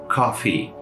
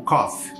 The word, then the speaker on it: coffee: Coffee, tá? Algumas pessoas, inclusive alunos meus, pronunciam isso como cough.